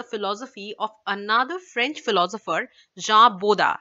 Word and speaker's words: Jean Bodin: of another French philosopher Jah bodha as we pronounce that in French okay who developed his